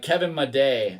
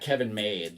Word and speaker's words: Kevin Made: to um or like kevin my day i think it's midday if i remember correctly it's not kevin made like that's not how you pronounce his name so there's some uh